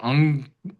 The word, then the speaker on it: अंक: अंक वैसे हम दोनों प्रकार से बोलते हैं उसको अंक भी बोलते हैं और अंग इसके बाद अंग का उच्चारण जैसा भी आ सकता है।